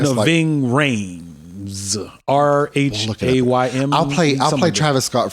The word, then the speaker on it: Rhames: I don't know how it's spelled, but it's black folks. We're gonna Rimes. No, Ving Rhames.